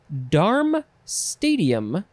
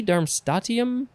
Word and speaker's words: darmstadtium: is an interesting word it is darm stadium i think that is how you say it darm stadium it is spelled this is all one word d a r m s t a d t i u m darm darm stadium it could be dermstatium but i don't think so uh it's just